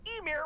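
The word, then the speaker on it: Ymir: According to ancient Norse mythology, Emir was the first Yotan, a frost giant. At least he pronounced that right.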